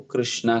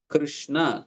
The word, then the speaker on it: कृष्ण: तो इसलिए दोनों को कृष्णा कहा जाता है एंड फिर इसलिए आप कृष्णा करके आप उच्चारण करेंगे देन फिर वो द्रौपदी या यमुना देवी को संबोधित होगा इसलिए हमें इसे कृष्ण कहते हैं हरे तो वो